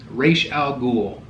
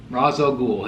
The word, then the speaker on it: Ra's al Ghul: 10 11 so 111 votes 111 votes for race out ghoul Ra's al Ghul ever you want to pronounce it unbelievable I was really shocked that